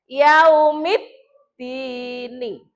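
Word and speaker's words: يوم الدين: Alif lam, ketemu huruf dal. Ada nggak dal di sini? Ada. Berarti cara membacanya ini alif lam itu lebur. Lebur itu dianggap tidak ada, langsung masuk ke dal. Yaumid dini. Nah, alif lamnya dianggap tidak ada ya, lebur. Jadi lebur ke dal.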